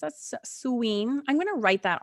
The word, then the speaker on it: Samhain: It's a suween.